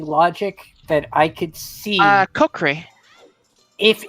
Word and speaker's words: Kokiri: Kokiri. if it's Or not are you prescription. asking how to pronounce it or how in general? Because I pronounce it Kokri, but people pronounce it differently.